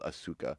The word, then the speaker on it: Asuka: ASA ASA it's spelled it said ASA but it's spelled Asuka Asuka yeah ASA that counts for me who